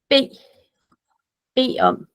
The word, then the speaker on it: bede om: So this, jeg vil gerne, also it's written like this, but when we say it out loud, we say bed om.